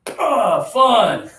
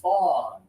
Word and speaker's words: fun: Everybody put your fist in the air like this and give me fun. Good. You got to have some pressure down here. If you use no pressure, you're saying fawn.